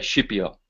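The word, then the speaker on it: Scipio: this is the commentary of the dream of skipio now being Italian I'll pronounce that shiio because that's the correct pronunciation but there it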